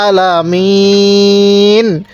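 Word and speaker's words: ٱلْعَٰلَمِينَ: আলামিন কিভাবে পড়বো আলামিন এই আইনটা একটু চাপ দিয়ে পড়বো এবং এই শেষে ওয়াকফের কারণে তিন আলিফ টান দিব তাহলে আলামিন এবার এখান থেকে আলহামদু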